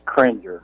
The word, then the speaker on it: Kringer: Was I mispronouncing that? That's Kringer.